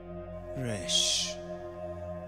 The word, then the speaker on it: Resh: Resh. Resh is pronounced as R in Hebrew from the back of the throat.